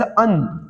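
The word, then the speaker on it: an: और दूसरा पॉइंट लिखा है indefinite article एन, एन is pronounced as अन नॉट एन, तो एन नहीं पढ़ते इसको अन पढ़ते हैं।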